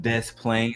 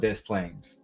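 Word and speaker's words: Des Plaines: Before we go into our recent developments, babe, about Cordia Johnson being arrested in a city called Death Plains.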